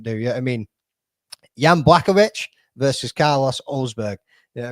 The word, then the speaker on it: Blachowicz: I'm pretty sure it's Jan Blachowicz. Or no, sorry, it's Blachowicz. Blachowicz. Jan Blachowicz versus Carlos Ulberg. Pretty sure that's how you say it.